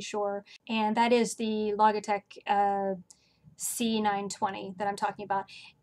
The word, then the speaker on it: Logitech: and that is the Logitech c920 that I'm talking about and incidentally I was recently told that I am pronouncing that wrong and it's actually logitech like logic and technology but considering that lately